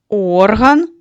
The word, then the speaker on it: орган: Ніс - це орган нюху. А музичний інструмент як називається? Орган. Правильно. Скажіть, що відрізняє пари слів в утворених нами словами? Правильно. Наголос. Лише наголос діти відрізняє ці слова.